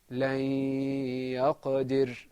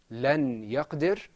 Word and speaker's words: لن يقدر: Now, notice that there was a humming sound, or there was a longing of your voice.